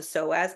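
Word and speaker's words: psoas: The second most common is something called the soaz muscle. It's it's spelled P S O A S.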